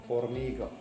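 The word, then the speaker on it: hormiga: لا أورميغا تكتب بالآش تكتب ولا تنطق مودة، هي النملة.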